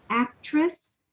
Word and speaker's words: actress: And this one, are you an avid fan of the famous actress? Let me just insert the letter T.